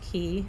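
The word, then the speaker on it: Cay: You just put the key in, and this is pronounced Key, C-A-Y.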